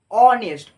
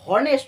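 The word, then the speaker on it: honest: অনেস্ট, অ অ অ স্বরে ও, অ। আমরা vowel বা স্বরবর্ণের উচ্চারণ করছি। অনেস্ট, আমরা হনেস্ট করছি না, এইচ এর উচ্চারণটা হচ্ছে না।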